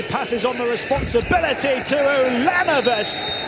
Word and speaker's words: Ulanovas: Pangos thought about the 3, passes on the responsibility to Ulanovas. Add an extra syllable. Edgarus Ulanovas.